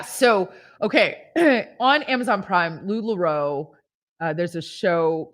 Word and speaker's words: LuLaRoe: how do you say it's lularoe it's the lularoe documentary lularoe thank you anna said ted bundy talk about